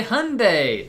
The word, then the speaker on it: Hyundai: the Hyundai plant and if you don't know how to say the car Hyundai it's Sunday Monday Hyundai as I said I